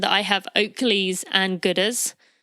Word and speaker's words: Goodr: Last year I mentioned that I have Oakleys and Gooders. So Gooder is spelled Goodr.